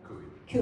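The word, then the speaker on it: Coie: Ki Kui Kui, sorry.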